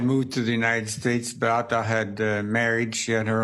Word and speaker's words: Beata: The Polish pronunciation is Beata.